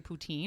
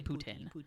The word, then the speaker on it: poutine: pronounce it poutin now originally I would pronounce say poutin and now my French friends make fun of me lowkey about it so I had to say ptin but yeah you know